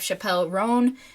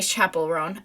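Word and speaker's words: Chappell Roan: and then we have Chappelle Ron and actually Chapel Ron I mispronounced sorry queen I'm bowing you can't see me cuz this is a voice over but I I mispronounced the Queen's name and I feel bad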